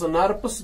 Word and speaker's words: snRNP: Are having SNRNP, small nuclear ribonucleoproteins, they are pronounced as SNRPs भी इनको हम बोलते हैं.